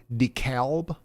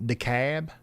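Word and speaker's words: DeKalb: Now there's an L in decalb. You guys say it like decalb and not decab.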